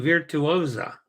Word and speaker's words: Virtuosa: have you with us MSC virtuosa oh veer virtuosa virtuosa wow boy have I been slaughtering that one well everybody does MSC virtuosa is the proper pronunciation amazing uh Katie says